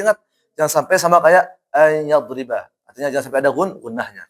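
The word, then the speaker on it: أن يضرب: Ayyadriba itu yang ada gunahnya.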